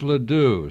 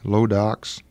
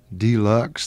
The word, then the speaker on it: LeDoux: Yeah, we've had it pronounced a lot of different ways. LeDoux, Deluxe, they get the L and the D turned around.